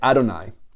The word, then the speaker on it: Adonai: um when you get to this you say adoni which is really strictly pronounced like that adoni means my lords in